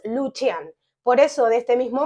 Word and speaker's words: Lucian: cosa muy importante que en el idioma Romano la c se pronuncia como ch en español por ejemplo el nombre lucian lo leerías en español lucian pero en rumano es lucian por eso de este